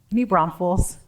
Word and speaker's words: New Braunfels: sir new brown fools talk to me about new Brown new Brown foals or new Brown Fells or how do you say that New Braunfels got it um are you from